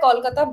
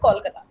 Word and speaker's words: Kolkata: Calcutta, Kolkata, both are right, but in the actual like local language, people call it Kolkata, and in Hindi as